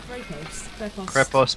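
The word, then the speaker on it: Krepost: Crepost, but you have to like roll your tongue when you say R.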